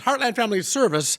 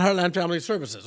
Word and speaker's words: Heartland Family Service: And it's Heartland Family Service, not Heartland Family Services.